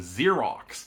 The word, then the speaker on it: Xerox: It's also frustratingly how we get the name Xerox, which has two X's, one pronounced as Z and one pronounced as KX, because Xerox comes from the